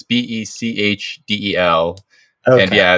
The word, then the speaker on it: Bechdel: It's like the Bechtel test or the Bechdel test. It's Bechdel.